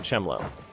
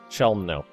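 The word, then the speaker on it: Chełmno: So let's detach siege there, and we're going to go to Chemlo. I can never pronounce this word correctly. Chelmno.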